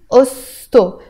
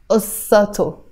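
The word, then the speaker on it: قصتو: I'm not going to say ussa o, no, I will say osto. And this a sound is kind of disappearing, so I'm saying osto, osto rather than ussato, okay?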